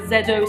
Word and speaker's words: ZO Skin Health: get is a zo i think you pronounce it either zedo skin health or zo skin health it's the sunscreen powder